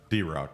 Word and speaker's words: DeRock: DeRock.